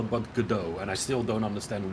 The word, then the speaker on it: Godot: it is pronounced GD sounds like French or something they should call down